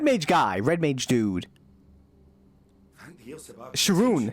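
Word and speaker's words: X'rhun: Sharoon. Sharoon Tia. Spelled with an X.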